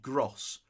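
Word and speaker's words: Groß: but it's spelled Grob it's like Giotto and that special b which i think is jim and so i'm thinking the way you pronounce gross from brian I'm thinking you should prompt like heaven gross grits I think and that's gonna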